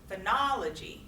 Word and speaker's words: phonology: civil boundaries and syllabification phonology phonology phonology also on the second syllable next one articulation how